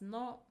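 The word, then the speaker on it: の: It is pronounced as no and it indicates possession.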